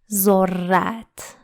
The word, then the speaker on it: ذرت: ذرت. But just pay attention that we pronounce it stronger than other letters. When we see this sign over a letter, it is pronounced stronger. ذرت.